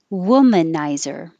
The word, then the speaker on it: womanizer: And the vowel, I couldn't spell it any other way besides regular U, but remember that it's as in took. And took and good. So the tongue's a little lower than oo, and the lips don't round.